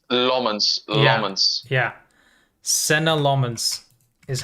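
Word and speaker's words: Senne Lammens: I think I think in his first interview he said Senna Lmens, right? That's how he pronounced it. Yes, it's Lmens. Lmens. Yeah, Senna Lommens is how he said it.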